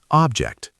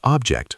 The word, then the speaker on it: object: Object. Noun. Pronounced object. Stress on first. Shadow. This object is heavy. Now pause and repeat object 5 times. Object. Verb. Disagree. Pronounced object. Stress on second.